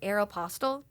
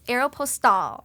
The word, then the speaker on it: Aéropostale: i'm saying said it correctly instead of like aeropostale yeah and i remember calling everyone being like